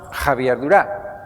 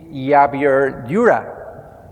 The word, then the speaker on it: Javier Dura: front of this audience, because in Spanish, my mother tongue is pronounced Javier Dura. But most of you guys are from the United States, so the most reasonable way to pronounce it should be Javier Dura, which sounds really strange to me.